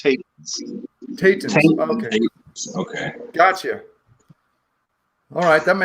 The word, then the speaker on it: Tetens: Okay, so I pronounce it regularly Tetens because it's just easier for people to pronounce. Okay. But if you were in Europe, it would be pronounced Tetens.